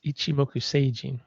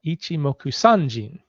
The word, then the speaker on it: Ichimoku Sanjin: And it's just so you know, it's Ichimoku Seijin.